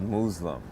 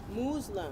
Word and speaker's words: Moozlum: is your first film muslim it's actually called muslim muslim you're supposed to pronounce the word uh muslim uh but i